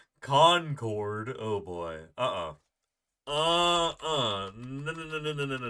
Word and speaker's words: Concord: Concord oh oh conquered conquered is how we say it conquered Concord oh boy uh-uh uhuh